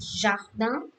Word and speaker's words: jardin: And then we have the second word like jardin, so its pronunciation is like JHARDAN, jardin.